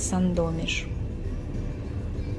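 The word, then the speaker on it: Sandomierz: Среди мест, которые мы посетили в последнее время, с удовольствием вспоминаю город Сандомиш. В русском произношении это Сандомир.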